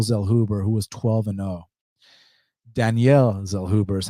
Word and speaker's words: Zellhuber: on mexico's daniel zellhuber who was 12-0 danielle zell hoover is how you pronounce it actually currently they got it where's this at danielle zell hoover minus 300 the comeback on trey ogden's plus 250.